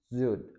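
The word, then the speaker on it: Süd: वाले या फिर वॉवल, कोई भी अगर एस के बाद आ जाए तो हम इसको हमेशा जी की साउंड से पढ़ेंगे या जे की साउंड में पढ़ेंगे हम, जैसे जा, फिर जे, जी, जो, जू, जागन, जोन, जुड।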